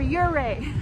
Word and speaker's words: Ouray: wrong I looked up the pronunciation since we pronounce Zapata zapatol okay okay hooray what do you say hooray for yuray hooray for Yuri okay but we're just walking